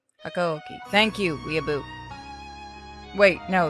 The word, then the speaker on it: Hakuoki: Hakuoki. Hakuoki.